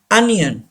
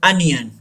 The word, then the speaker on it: onion: Onion. Don't say onion. लोग इसको पढ़ते हैं onion, गलत प्रोनाउंस करते हैं. The actual pronunciation of this word अनियन.